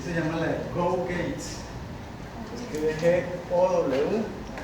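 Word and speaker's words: Gow-Gates: Y se llama la de Go Gates. Se escribe G-O-W y Gates como puertas en inglés. Go Gates.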